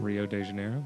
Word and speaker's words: Rio de Janeiro: how you say it we got a confirmation Rio de Janeiro yes all right yeah you can come in